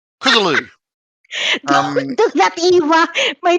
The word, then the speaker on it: Cthulhu: Literally, when you said Cthulhu. don't do that, Eva. My tongue literally just twisted when you said stop it. You've got to pronounce the second H.